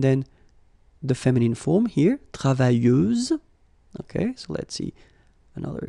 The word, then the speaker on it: travailleuse: You don't pronounce the final S, so you get travailleuse.